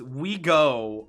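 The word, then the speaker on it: OUIGO: snf cf's brand uh oigo pronounced we go along with the straightforward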